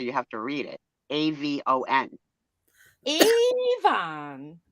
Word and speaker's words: Avon: AVON. Avon. With a long first syllable. That's the only way to say it right.